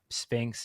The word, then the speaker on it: SPHINCS: understanding that move and understanding Sphinx is spelled SPHINCS with a capital or a plus sign at the end.